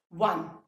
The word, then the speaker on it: one: One. Though the spelling it begins with a vowel, but when we pronounce it, sound किसका आ रहा है?